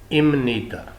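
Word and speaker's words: 입니다: शुरू हो रहा हो तो बीएफ और फफ जो है ये अपनी साउंड मियम में चेंज कर जाएंगे एसे मयम प्रोनाउंस होंगे जैसे लस प्रोनाउंस होता है इमनीदा इमनीदा इमनीदा के मीनिंग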